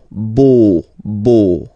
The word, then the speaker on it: beau: So remember this a, u combination of vowels only give you the sound o, beau, okay?